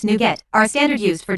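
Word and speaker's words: NuGet: standard formats for packages new get packages pronounced new get are a standard used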